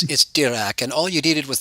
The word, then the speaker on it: Dirac: Dirac didn't say that. Are you sure you quoted dog shit? Because I believe you. Say so. I mean, Dirac was the OG DSer, dog. It's Dirac, and all you needed was the French accent.